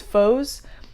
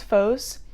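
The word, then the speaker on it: Phos: temple and they his his god is foes i think that's how you pronounce it p-h-o-s foes and he basically there's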